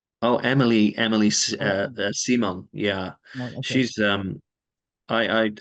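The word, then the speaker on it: Émilie Simon: French electronic artist Emil or how do you pronounce that Emil Simon oh Emily Emily simong yeah she's um I I I did some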